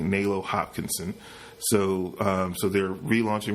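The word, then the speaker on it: Nalo Hopkinson: Melo hot hops Hopkinson this is morning's where I pronounce it correctly Melo Hopkinson so so they're relaunching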